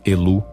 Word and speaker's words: Elu: Ou seja, menciona uma deusa sem nome, filha de Shapshu, e do céu e do abismo, apelando ao Deus Supremo El, pronunciado Elu em ugarítico, que reside na nascente